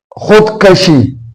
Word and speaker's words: خودکشی: پہ ایک لفظ ہے خودکشی، خودکشی، خی کے اوپر یہ پیش واو سائلنٹ، دال سائلنٹ، کاف کے اوپر زبر، اور شین اور چوٹی یہ بھی سائلنٹ۔ تو خودکشی، خودکشی، خود